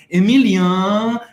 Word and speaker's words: Emilien: Ou seja, Emile, um pouco mais curto, mais simples de pronunciar, porque lá no Brasil era Emilien, como é Emily.